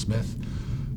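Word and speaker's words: Smyth: hand there's John Smith sometimes called spy but the name was probably pronounced Smith who went to the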